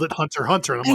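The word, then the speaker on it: Hunter × Hunter: It's some Japanese quirk of like just putting X in things, but no, the X is silent.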